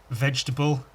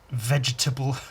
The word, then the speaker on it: vegetable: It's the same sorts of people who pronounce every letter of the word vegetable. Vegetable. I had teachers like that at school. They'd say vegetable. Like, just say vegetable. You don't have to say vegetable.